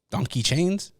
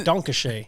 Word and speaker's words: Danke Schoen: do they say there donkey chains donkey chains no it's Danke Schoen what's that I don't